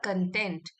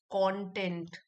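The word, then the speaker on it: content: और इसी वर्ड जो सेम स्पेलिंग का एक और वर्ड होता है उसको हम बोलेंगे कॉनेंट। कंटेंट। इसमें हम स्ट्रेस देंगे ये वाले सिलेबल में कंटेंट।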